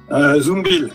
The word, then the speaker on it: Zumbiel: présenter en premier Frédéric Zumbiel. Je prononce bien ou pas, Fred? Zumbiel, Bill comme Buffalo Bill.